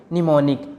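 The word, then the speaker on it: mnemonic: and silent रहता है जैसे कि एम एन एम ओ एन आई सी इसमें लेमन स्टार्टिंग में आया है इसलिए हम इसको बोलेंगे निमोनिक यहां पर एम साइलेंट है अम्म की कोई साउंड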